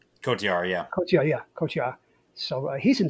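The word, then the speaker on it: Cotyar: Right, and Bobby seemingly saves Christian and how do you pronounce it? Her bodyguard's name? Kotiar, yeah.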